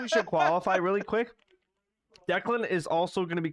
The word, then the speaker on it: Declan: It's just people can't pronounce my name. Declan. That's how Yeah. you say it, right? It's Declan.